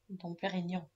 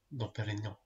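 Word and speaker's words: Dom Pérignon: How do you pronounce it? Dom Perignon. Dom Perignon.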